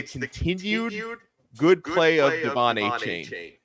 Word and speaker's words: Achane: Achane, I'm still adapting to that one.